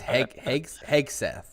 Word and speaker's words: Hegseth: I think it's Hegseth.